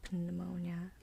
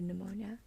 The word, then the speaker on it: pneumonia: you and I chose pneumonia ass my example for having in the initial position and this obviously has a silent P we don't say pneumonia um if we just say pneumonia the word I chose